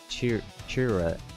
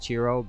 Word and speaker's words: Chiro: Alex says his name was Chira, the blind guy. Yeah, Chira. I'm pronouncing that wrong. I think it's Chiro. I think it's pronounced Chiro, but it looks like Chira.